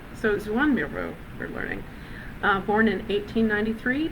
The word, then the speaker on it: Joan Miró: He was born in Catalonia, and he would have pronounced his name a bit like this, Joan Miró. So Joan Miró, we're learning.